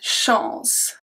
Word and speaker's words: chance: If the ending of the word is CE, we remove the E and then we keep only the sound of the C, which is going to be S. So we have une chance. S, okay? Une chance.